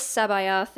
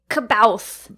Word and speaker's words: C'baoth: you didn't even ask i really wanted to say cabalth i think that's how i used to say it like when i was first reading the book in fifth grade or so like kabout but uh that's what